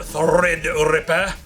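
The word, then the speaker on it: Threadripper: talk about AMD unveiling their new 16 core thread Ripper that's how you say it correctly the thread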